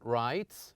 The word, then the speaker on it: writes: pronounced differently for example here's the first one writes we pronounce the S as the sa sound rights